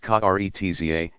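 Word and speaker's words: Karezza: The word Kurat Sa, pronounced Kretza, is from the Italian and means a caress.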